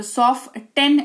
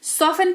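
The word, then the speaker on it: soften: है क्लियर बात करेंगे टी कब साइलेंट होता है कि किसी शब्द में टी के ठीक पहले एफ या एस लगा हो तो टी in that case silent हो जाता है। ठीक है? जैसे सॉफ्टन नहीं सॉफ्टन। यहां पर टी के ठीक पहले एफ लगा हुआ है। तो सॉफ्ट 10 नहीं सॉफेन पढ़ेंगे जिसका मतलब होता है मुलायम।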